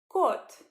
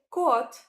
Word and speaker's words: кот: The word kot, kot. This means the cat, male cat. It starts with the letter K. When you say kot, you start with the K sound for the first letter, just like saying K when you pronounce kite.